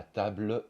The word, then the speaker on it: table: une consonne on va plutôt dire la table du salon au lieu de la table du salon la table